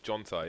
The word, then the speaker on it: Jonta: They also have a coach whose name is pronounced in English, Jonta, yeah.